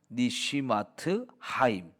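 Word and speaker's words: נשמת חיים: 이거든요 아 히브리어로 이 생기 라고 하는 말은 리쉬 마트 하임 리쉬 마트 하임 이렇게 말하고 생 영이라고 하는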